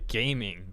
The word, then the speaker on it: Gaming: caravan was safely escorted by gaming, by Ga Ming.